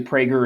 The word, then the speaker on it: Prager: like you you guys i thought that was a hard g i guess i'm wrong oh i say prager i think actually prager is correct but yeah i've rambled